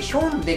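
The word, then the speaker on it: Hyundai: 楽しい一応 v 韓国ヒュンダイどうせ自体が何年か前に名前の表記をあの実際に発音近いものに習得でヒョンデに書いてたんでねそれ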